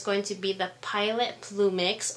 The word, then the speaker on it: Plumix: to be the pilot plumix or plumy if you want to be all um say it correctly I guess um but I got